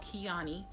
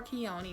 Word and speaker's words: Keoni: black owned business called keaney naturals or keoni naturals sorry if i mispronounce that but i believe it's kiani naturals which i think is such a pretty name kiani kyani naturals i think it's pretty